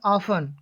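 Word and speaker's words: often: पहले एफ या एस हो तो टी का उच्चारण नहीं होता है। इसे बोलेंगे ऑफन। क्या बोलेंगे, ऑफन, यानी कि ओ एफ टी एन, ऑफन, ऑफ्टन नहीं बोलेंगे, है ना।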